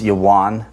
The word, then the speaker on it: Javan: Japheth's line comes Javan, which in Hebrew it's Yawan. We get the Vav because of the present-day pronunciation of the Hebrew letter Vav, but it was actually a while back then. Ashkenazis changed the pronunciation of it, but it's Yawan, which is interesting because